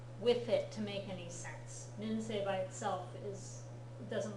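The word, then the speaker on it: 先生: of run together and it's more of an a sound than an e sound sense okay but again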